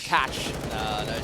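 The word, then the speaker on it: Cache: go shout out rad are you still saying it wrong what it is it's cash we invented the language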